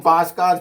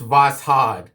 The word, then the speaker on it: Voskhod: I used to call them Vosgods, but someone on here on YouTube corrected my pronunciation. Voskhod blades are actually pronounced Voskhod.